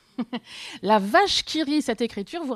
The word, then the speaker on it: vache: Oui, alors la plupart des gens, quand ils le voient, disent la wache qui rit. Non, non, le W peut se prononcer V, comme dans un wagon. La vache qui rit, cette écriture vous rappelle peut-être quelque chose.